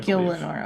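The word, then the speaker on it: Gielinor: the world of how do you say that Gilmore Gil Lenore okay that's what I thought my job is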